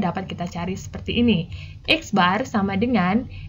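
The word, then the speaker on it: x̄: atau mint dinyatakan dengan x bar dibacanya eksbar ya x garis dibacanya eksbar eksbar = X1 ditambah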